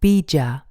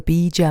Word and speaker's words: Bija: Each chakra also has its very own mantra, so-called Bij or also Bija mantras.